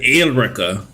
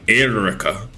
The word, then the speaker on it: Eureka: it's an e-u-r-e-k-a-7 but for some reason they pronounce it as El Rica which is so weird it's clearly Erica or Eureka but they say Erica so weird I never understood that such a weird pronunciation yeah I do Cranston